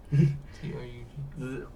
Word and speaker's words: Touge: Because I remember thinking, no, it's not tongue, it's Touge.